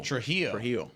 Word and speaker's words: Trujillo: Trujillo. Okay, so it's like an H in there.